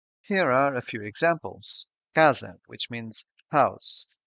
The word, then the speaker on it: casa: Casa, which means house. The stressed syllable is in ca, so the first A is open and the other one is shut. Casa.